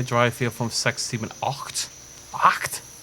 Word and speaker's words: acht: Eins, zwei, drei, vier, fünf, sechs, sieben, acht. Acht? It's not oct, is it? It's acht.